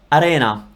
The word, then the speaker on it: arena: But for example, if you have an R between two vowels, it's not as strong, okay? For example, I don't know, arena, arena, arena. I'm not rolling the R, it's just an R that is different from English because English R comes from here, whereas Italian R comes from the tip of your mouth.